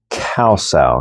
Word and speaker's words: kau: gives me pressure for cows. Cows is a plucking arm. It sounds like the animal cow, but it's spelled K A U instead of C O W.